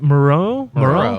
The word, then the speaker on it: Moreau: Moreau? Yeah. Yep. Like the island of Dr. Moreau.